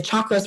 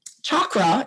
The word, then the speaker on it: chakra: meat suit okay um chakra is pronounced with a cha like church and chucklehead it is not pronounced